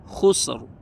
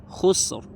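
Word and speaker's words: خُسْر: di sini ro tebal contoh kalau dia e dah khusr khusr khusr usr oke contoh kalau dia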